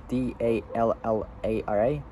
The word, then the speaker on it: Dallara: The X-Bow road car was developed in collaboration with Kiska, which is spelled K-I-S-K-A, yeah, Kiska, Audi, and Dallara, which is spelled D-A-L-L-A-R-A.